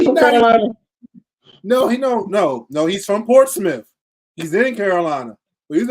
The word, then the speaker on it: Portsmouth: Portsmouth. There's no ITH in that. I keep telling y'all this. I tell the people at my job every day, Portsmouth.